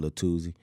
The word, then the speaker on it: Lil Tuzi: Well, that's how you say his name, Lil Tuzi.